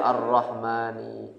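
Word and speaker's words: الرحمنِ: Maka arrahmannya jer juga arrahmani. Nah, makanya kan kita membacanya bismillahirrahmanirrahim. Kenapa dia dibaca kasrah dibahasa jer?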